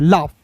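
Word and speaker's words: laugh: हो जाएगा ला और जी एच का उच्चारण दोस्तों फ के रूप में लाफ।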